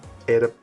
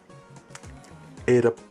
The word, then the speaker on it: edap: And for 20, the word is edap. Edap. Listen carefully. Edap, edap. So 2 high tones. So you're not starting low and going high, you're starting high and staying high.